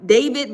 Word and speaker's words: D4vd: Yeah, it's spel it's um they call him David, but he just puts D4B in his um I guess as his like uh tag or whatever.